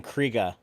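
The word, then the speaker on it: Krige: voice performance from Alice Krieg. I hear some people say her name Kriega. Oh, that might be correct, actually.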